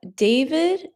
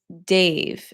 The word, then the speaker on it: Dave: Vav David Dave Dave. Oh, okay. Sorry. So, my friend from Israel, I pronounced your name as Dav, but it's Dave.